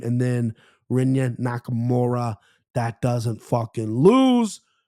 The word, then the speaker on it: Rinya: Is that Kenya or Rinya? Rinya Nakamura, stud.